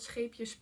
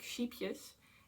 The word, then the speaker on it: Scheepjes: It's called Scheepjes Pure. And oh, I actually have to say that I always laugh when I hear native English speakers pronounce this yarn brand, because they pronounce it like sheepjes, and sheepjes in like would be like half